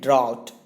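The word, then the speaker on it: drought: इसको कहते हैं ड्राउट। ड्राउट कहते हैं यानी कि सूखा। इसका जो पहला ऑप्शन है ऑलमोस्ट सिमिलर स्पेलिंग के साथ, लेकिन इसका प्रोनाउंसिएशन डिफरेंट है।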